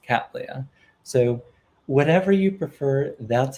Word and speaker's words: Cattleya: this kind of orchid cat leia was called cataleya and so i just i've been calling the project catalaya but in fact it's supposed to be pronounced cattleya so whatever you prefer that's fine with me